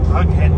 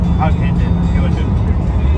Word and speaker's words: Hughenden: Hughenden.